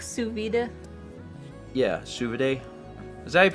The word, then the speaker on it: sous vide: like the thickness of the lasagna it's like sous vide yeah sugar day is that how you pronounce it Brandon or Brandon yeah sous vide let's reaches the water Steven the water you